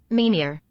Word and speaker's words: Meir: H you know what let's see if I'm pronouncing that one right survey says is here we go meor yeah Meir okay got it uh I